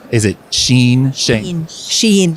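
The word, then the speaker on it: Shein: Uh it's Wait, now first of all, what is the correct pronunciation? Is it Sheen Shen? Sheen. Sheen.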